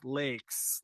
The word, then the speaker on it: Laex: So I looked it up when I was making my name, and the AE is supposed to be pronounced like A, like lakes, like a body of water. So I tell everybody lakes like the body of water because that's what it looked like.